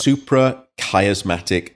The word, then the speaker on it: suprachiasmatic: Suprachiasmatic nucleus, and it refers to the chiasma, which